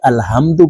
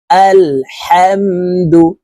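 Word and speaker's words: الحمد: আমরা অনেকে এই শব্দটি আলহামদু পড়ি এই হাকে হলকের শুরু থেকে পড়ে থাকি এটি বড় হা হলকের মধ্যখান থেকে উচ্চারণ করতে হবে আলহামদু ওয়াও লাম জবর ওয়াল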